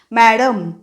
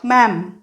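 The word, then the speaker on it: ma'am: पूर्ण स्पेलिंग आहे पण जेव्हा आपण बोलतो इंग्लिश मीडियम स्कूल मध्ये जेव्हा टीचर्स बोलतात मॅडम असं नाही म्हणायचंय कसं म्हणायचं मॅम आणि त्यामुळे लिहिताना सुद्धा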